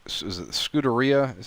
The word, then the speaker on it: Scuderia: Now, I think it's the Scuderia. Is it Scuderia? Is how you pronounce it?